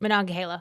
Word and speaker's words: Monongahela: located at the confluence of the Allegheny and Monongahela. What how do you pronounce that? Monongahela.